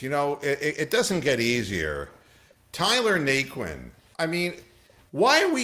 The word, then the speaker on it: Naquin: And yes, Rox, it's spelled Naquin, if you're looking that up. Naquin, not NyQuil.